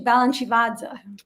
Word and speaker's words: Balanchivadze: So George Balanchine was born, and please correct my pronunciation, Georgi Balanchevez? Yeah, Georgi Balanchivadze.